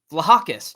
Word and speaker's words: Vlahakis: Vlahakis. Vlahakis. The H. I got to pronounce it.